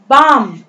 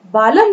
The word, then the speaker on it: balm: Then बाम, BALM, L is a silent letter here, L जो है वो शांत है, इसे हम बालम नहीं पढ़ के बाम पढ़ेंगे, बाम।